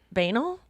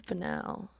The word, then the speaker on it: banal: a place of like i believe banel i think you mispronounced it did i i think it's banal mm-hmm i guess we'll